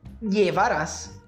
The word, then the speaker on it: llevarás: Os dois L's, ou como dizemos em espanhol, a ed, né? Tem três pronúncias que são as mais utilizadas ao redor do mundo, tá? Que são com som de I, então podemos dizer, por